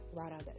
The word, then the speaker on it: Radha: Yeah, Radha, that's how you pronounce her name.